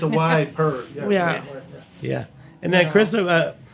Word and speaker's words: Ieper: So it's Ypres in French, Ypres, or Yper, Ieper, if you're Flemish. And the British just call it Wiper. Because it's a Y per.